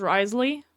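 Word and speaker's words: Wriothesley: His name is pronounced Risley. Risley. I don't know. Kind of sort ofish. Um I kind of just want to call him a Rio, but I don't know. People were those are exactly the words you don't pronounce.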